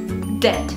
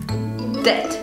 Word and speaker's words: debt: And this word is similar because it also has another silent letter, B. So yes, the B is there, and we can't get rid of it, but we don't have to say it.